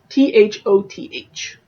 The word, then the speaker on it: Thoth: well I think I've heard of those Thoth th oth so I'm going to pronounce it Thoth I said the god of